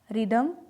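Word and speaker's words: rhythm: तो वहाँ पर भी एच जो है वो साइलेंट रहता है। जैसे राइनोसॉर्स, रिदम, राइनोप्लास्टी।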